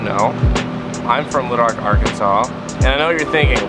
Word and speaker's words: Arkansas: South first of all our name is pronounced weird all my friends know if they say Arkansas or some variation of